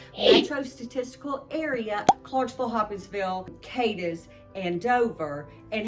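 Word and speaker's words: Cadiz: And that's in a town called Kadis, not Kadis. It it can certainly be mispronounced.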